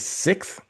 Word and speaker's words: Sixt: I don't even know if I'm going to pronounce it right. It's Sixt, Sixt.